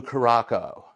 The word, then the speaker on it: Curaçao: Curaçao, Curacao, Curacao, yeah. And the second C has a CD on it, which is the French word for the little accent, little tail under the C.